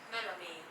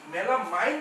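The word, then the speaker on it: melamine: এখন দেখেন এই মেলামাইন কেন বলছি, দেখেন আই উচ্চারণটা আমরা করতেছি আই, মেলামাইন কেন বলতেছি, আই কে আই উচ্চারণ করছি, আই ইজ এ লেটার, উচ্চারণটা হচ্ছে ই, মেলামিন, ঠিক আছে, খেয়াল করছেন,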